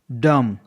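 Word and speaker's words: dumb: silent होता है first जब एम के बाद बी हो तो बी साइलेंट होता है दम दी यू एम बी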